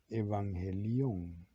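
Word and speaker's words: εὐαγγέλιον: Esta palabra en el griego es un sustantivo que se pronuncia evangelión y significa buenas nuevas.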